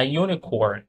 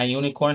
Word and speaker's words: unicorn: ال exceptions استثناءات a unicorn a unicorn a university a university ليه هنا قلت a unicorn معناها بدأ باليو لما حرف متحرك اهوت ولكن الصوت بتاعها ساكن الصوت بتاعها يو نطقت يو ما نطقتش زي umbrella